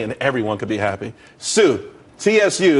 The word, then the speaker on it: Tsu: there's more money and everyone could be happy Sue CSU it's pronounced Sue though that's a that's a website